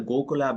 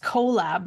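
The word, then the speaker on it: Kollab: memberships is that the goolab app yes and I believe they dropped the go it's just collab now like k o l l a b it's spelled with a K okay and um that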